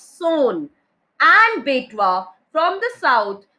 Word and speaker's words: Son: Please see the pronunciation of this word Son. It's not Sun, it's Son.